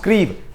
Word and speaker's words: Kyiv: See dear students, here Kyiv will be pronounced Kyiv, Kriv kind of pronunciation will be there.